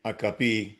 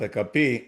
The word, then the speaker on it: HP: talking about my experience at HP A capi I think is the pronunciation in Italy at a capi was I had no more authority than anyone else in the organization.